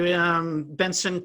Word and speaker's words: Bentson: websites the best way Bentsen Kapil calm and it's got a tee in it but you can't hear it ven TSO n Kapil Copp le calm a silent T yeah okay so this